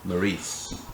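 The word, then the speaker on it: Maryse: It was different because Maurice. That's how you say it.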